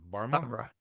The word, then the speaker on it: Bamra: Bamra. Is the H silent? The H is silent, yeah.